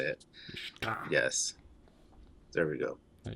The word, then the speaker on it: Riskadh: Riskadh.